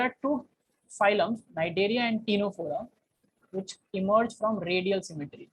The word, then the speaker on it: Ctenophora: not Cnidaria, is called Ctenophora, where C is silent. Okay. Ctenophora.